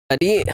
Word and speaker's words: Aadit: Aadit, what you got going on? You got fights? Did I say it right? Yes, sir, yes, Aadit?